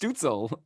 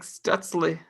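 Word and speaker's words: Stützle: I thought it's just pronounced Stutzel. Is it like It's more? No, it's like Stutzle.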